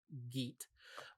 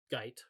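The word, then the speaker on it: Guite: a guy named malcolm geet um or guyt rather i'm sorry for longest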